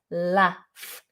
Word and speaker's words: laugh: there is another version it's a northern version which is also the same as a american version and it's with a short vowel instead of a long r it's with an ah laugh laugh i laugh i laugh they do americans do slightly pull it out but not like laughs